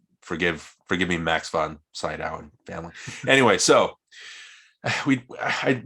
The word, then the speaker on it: Sydow: his name right it's is it seed outside how do we pronounce his name and say down last time side out like side eye okay hopefully i'm getting